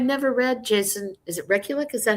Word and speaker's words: Rekulick: Is it Rekulick?